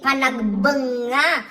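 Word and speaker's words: Panagbenga: The first box I opened, it's Panagbanga Festival. That's how you say it, Panagbanga Festival in Baguio City.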